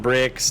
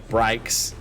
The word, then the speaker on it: Brikes: Not Bricks, not Brax, Brikes.